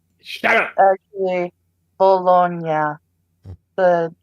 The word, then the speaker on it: Bologna: Bologna. Shut up. Actually, Bologna. The G is pronounced like.